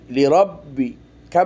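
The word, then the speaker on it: لربك: রব বা জের বি এই বা টা দুবার উচ্চারণ হচ্ছে তাহজিদের কারণে একবার র দিয়ে আরেকবার নিজে লি রব্বি এভাবে হলো লাম জের লি রব জবর রব বা জের লি রব্বি কাফ জবর লি রব্বিকা ওয়ান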